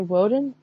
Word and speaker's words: Woden: And I think the British say Woden.